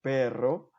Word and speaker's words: perro: Тоже произносим твердый R, когда двумя R, por ejemplo, perro и carro.